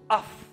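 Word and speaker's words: אף: Ici, le mot colère, quand Dieu dit ma colère va s'enflammer contre eux, le mot colère vient de l'hébreu af, qui s'écrit A-P-H, af.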